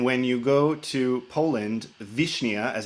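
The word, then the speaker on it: wiśnia: is wisnia and when you go to poland vishnia as it's pronounced in polish is actually a flavor so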